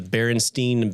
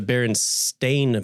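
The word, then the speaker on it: Berenstain: Uh the another another good one is the Baronstein Bears. Okay. I remember the books. It's the Baron Stain Bears. It's an A, not an E, but everyone remembers it with an E.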